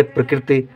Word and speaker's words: प्रकृति: ये गलत हो जाएगा उच्चारण देखिए प्रकृति एक आई है लेकिन यहां पे इ का उच्चारण स्पष्ट है प्रकृति यहां पे हल्का उच्चारण होता है प्रकृति ठीक है जैसे कृष्ण में कृष्ण में हल्के से ई का उच्चारण होता है ऐसे यहां पर होता है ये गलत माना जाएगा